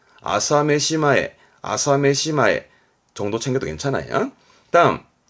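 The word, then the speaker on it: 朝飯前: 우리말로는 조반전 다른 말로는 뭐 그렇죠 식은죽 먹기다 발음은 아사메시마에 아사메시마에 정도 챙겨도 괜찮아요 다음 자 책받침 변이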